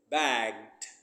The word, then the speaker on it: bagged: G is voice, so we pronounce with d. Bagged.